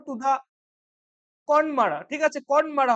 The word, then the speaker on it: Connemara: ঠিক আছে, কনমারা হবে এটার প্রোনাউন্সিয়েশন, CONNEMARA একসাথে রয়েছে, কনমারা হবে হচ্ছে এটার প্রোনাউন্সিয়েশন, চল প্রোনাউন্সিয়েশন।